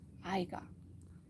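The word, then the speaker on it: Haigha: His name is Aiga. He pronounced it so as to rhyme with mayor.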